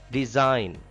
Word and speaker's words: resign: G is silent here. Resign.